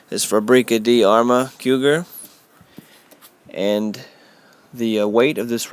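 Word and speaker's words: Fabrica de Arme Cugir: The proper pronunciation is Fabrica di Arma Cougar, and the weight of this rifle is 9.5 pounds.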